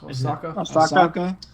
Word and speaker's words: Osaka: Naomi, how do you pronounce her last name? Osaka.